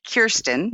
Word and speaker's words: Kirsten: Well, so first off, I pronounce it Kirsten.